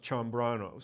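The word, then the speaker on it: Ciambrano: last name was Sano you pronounced chamb brano c i a m b r ano and when he went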